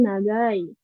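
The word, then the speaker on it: 長い: Lanjut sekarang ini nagai. Nagai. Ini artinya panjang ya. Nagai. Cara bacanya ada nagai sama cho.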